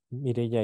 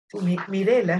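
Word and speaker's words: Mirella: solo con Alex mirela Mireya y Rigoberto ya mirela es mi nombre se escribe con doble l pero de repente comentar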